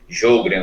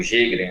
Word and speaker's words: Sjögren: Que tinha o sobrenome Sjögren ou Jägren, né? A pronúncia pode ser, as pessoas variam essa pronúncia, né?